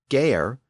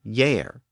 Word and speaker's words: year: So in the last episode, I noted that our modern word year was originally pronounced gayer, but it became yair.